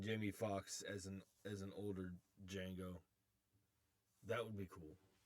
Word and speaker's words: Django: back as Zorro and Django. You know, it would be really cool for Jamie Foxx to tell Antonio Banderas, the D is silent.